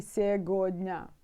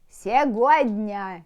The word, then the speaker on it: сегодня: say granny can say сегодня. It means like today, but some grannies pronounce it all letters and how it's spelled, you know.